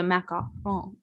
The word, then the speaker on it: macaron: Macon ma confus me macaroons are like the coconut things that usually have like chocolate melted around them the fancy French Patisserie is a macaron well that makes sense because that's a very French pronunciation so I it is